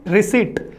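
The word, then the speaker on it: receipt: क्या है इसका प्रोनाउंसिएशन, रिसीट।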